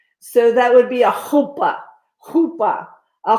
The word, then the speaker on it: chuppah: So in Hebrew, your CH is not a ch. It's guttural. So that would be a chuppah, a chuppah.